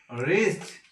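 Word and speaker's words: wrist: রিস্ট অর্থ কবজি, ডাব্লিউ উচ্চারণ হয়নি, সাইলেন্ট থাকে।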